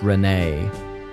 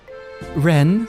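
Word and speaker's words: Renne: I believe it's pronounced Ren and not Renee.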